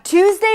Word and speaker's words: Tuesday: This is a strong t sound and actually it's an aspirated t so it feels like it has a little bit of air there. To then you have a tense ooh sound. Let's delete this for now. Twos with a z. Twos. Twos. Twos. Some people might even pronounce it as a ch sound.